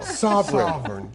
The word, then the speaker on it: Sovereign: Well, Sovereign? let me get Sovereign? Short O. Short O. Sovereign.